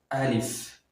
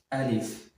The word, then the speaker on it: alif: Al very easy to write and easy to pronounce repeat after me alif alif just a straight line like one so it